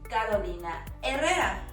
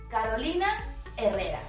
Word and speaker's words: Carolina Herrera: Another clothing brand often mispronounced as But remember, in Spanish, just like in the word Hotel, the H is silent, completely silent. And this is why we say Carolina Herrera.